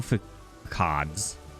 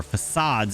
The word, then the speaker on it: facades: The Ender IO facades, or facades, if you want to say it correctly, do not cover, will not attach to, I should say, the refined storage pipes.